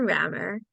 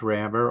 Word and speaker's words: Rammur: Originally, his name was Rammur, Rammer, but that was taken by a European manufacturer of road paving equipment. So I thought, how about Rammar, pronounced pretty much the same.